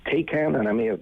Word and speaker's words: Taycan: Porsche is lauding the fact that it's Taycan, and I may have mispronounced that. Taycan, yeah.